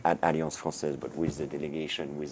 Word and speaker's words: Alliance Française: Please say it right. It's Alliance Française. Is that correct? Exactly, Alliance Française.